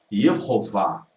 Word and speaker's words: Yehová: Não é ua, é vá. Yehová.